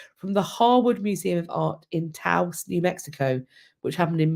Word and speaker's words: Taos: Taos rhymes with mouse.